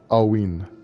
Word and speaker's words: Alwyn: That's pronounced, I think I spelled it wrong, but it's supposed to be pronounced Alwyn.